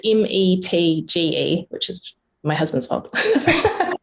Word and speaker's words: Metge: And people, if they're looking for your name in the credits, it's not spelt the way you'd think it's spelt from the way we said it. No, it's Metge, so it's Metge, which is my husband's fault.